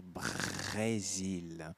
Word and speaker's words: Brésil: Esse R, Brésil. Mais uma vez, o R da garganta.